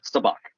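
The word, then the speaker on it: Sabacc: number five there are four types of saach or savic depending on how you choose to pronounce that word cloud city saach Dunc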